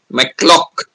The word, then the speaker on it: McLaughlin: She saying it's not McLaughlin, it is pronounced as McLaughlin. McClock. I said, where is Laugh pronounced like clock? I've never come across that in English at all, where any Laugh word is pronounced as clock. She's saying, but that's how the Canadians pronounce it.